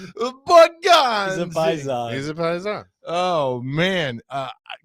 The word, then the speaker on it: Borgonzi: Because I'm telling you, if you got Brinker and Borgatze or Garbanzo, what? How do you say his name? Borgonzi. Oh, yeah. Oh, yeah. He's a Paisan, right? Borgonzi.